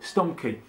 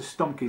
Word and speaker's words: Stumbke: Is it Stumbke? Stumbke.